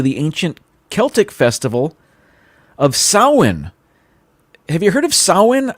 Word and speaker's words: Samhain: ancient celtic festival of samhain have you heard of sauhan i actually i've seen the word it it's spelled like samhain but it's pronounced sahwan i guess anyway that was celebrated